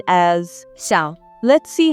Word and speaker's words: 小: It is pronounced as 小. Let's see how to write this character. This character has 3 strokes. 小.